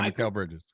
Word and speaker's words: Mikal Bridges: Yeah, Mikal Bridges.